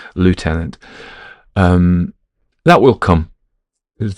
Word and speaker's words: lieutenant: was saying is when I used to use a British pronunciation left tenant actually lieutenant is correct isn't um if from